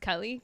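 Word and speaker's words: Keleigh: Kelly you know that it's pronounced Kelly Kay uh teller like miles teller's wife that's who was with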